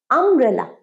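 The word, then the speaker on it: umbrella: নয় কিন্তু এইটাও ইউ দিয়ে শুরু কিন্তু এটার প্রোনাউন্সিয়েশন আব্রেলা আ স্বরবর্ণ আমব্রেলা আমব্রেলা বলো আমার সাথে অ্যান আমব্রেলা অ্যান আমব্রেলা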